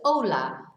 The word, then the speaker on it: hola: So remember, we don't pronounce the H. So it's hola, but it's spelt with a H.